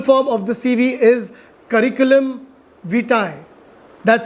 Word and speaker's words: curriculum vitae: okay the full form of the CV is curriculum vitae that's how you exactly pronounce it a lot of people mispronounce this